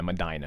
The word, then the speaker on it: Medina: in the house yeah Medina is the correct uh pronunciation oh well thoughts he's